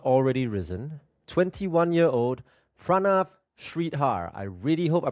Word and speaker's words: Pranav Shreedhar: 21-year-old Pranav Shridhar. I really hope I pronounced your name correctly.